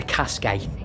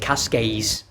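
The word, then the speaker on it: Cascais: The next day, we jumped on the train and went to Cascade, but I'm English, so I pronounce it cascades.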